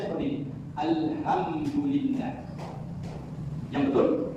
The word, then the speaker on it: Alhamdulillah: Alhamdulillah yang betul. Alhamdulillah menggunakan ha pedas makhrajul hurufnya itu tengah bunyinya ada bunyi ha ha ha.